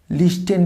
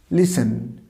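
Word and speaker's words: listen: লিস্টেন কিন্তু কখনোই করবো না, লিসেন। টিটা সাউন্ড হবে, টিটা একদম সাইলেন্ট থাকবে, লিসেন।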